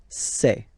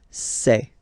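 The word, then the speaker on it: ces: And for the plural, c'est. Really open this c'est, okay?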